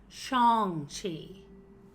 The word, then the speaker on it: Shang-Chi: Shang-Chi.